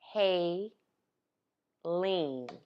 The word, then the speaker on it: Haleans: this was not Holly it's not Holly how you spell it H a as in Haiti le a and s as in New Orleans Oh Haley leans hey lean Haiti leans no no hey Linds it's a fusion mystery